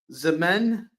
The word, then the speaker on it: X-Men: Um, this is a oneshot parody issue and it's pronounced Zmen, one syllable.